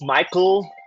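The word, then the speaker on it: Mikal: my number two pick Mikel Bridges Michael for all y'all that like to mispronounce names Mel Bridges was traded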